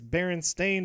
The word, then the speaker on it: Berenstain: most people's minds is I could have sworn it was spelled with an e it's berenstain bears than a and it pronounced it like it was with an e so that I'm probably